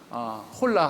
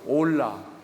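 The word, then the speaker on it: hola: 스페인에서는 H는 묵음이에요. 다시 한번? 다시 한번? 그렇죠. 홀라 하면 안 되고요. 올라 이렇게 하셔야 됩니다.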